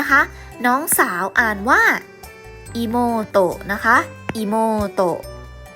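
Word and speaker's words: いもうと: อัด ๆ นะ คะ น้อง สาว อ่าน ว่า อี โม โตะ นะ คะ อิโมโตะ อี โม โตะ นะ น้อง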